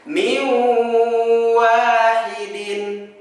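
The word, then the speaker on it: مِنْ وَاحِدٍ: Cara bacanya adalah kita leburkan bunyi nun sukun atau tanwinnya kepada waw bertasydid dan ditahan selama 2 harokat.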